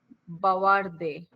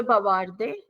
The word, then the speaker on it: bavarde: Next is chart is bavarde. Yes. Okay. Bavarde means to chat. To text, to chat. Je bavarde. Tu bavarde. No. We are doing some mistake. Je bavard. Sorry, je bavard.